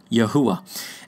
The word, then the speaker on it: Yahuwah: it out for us the original is yhw H in Hebrew which we pronounce phonetically as yahuwah and it was replaced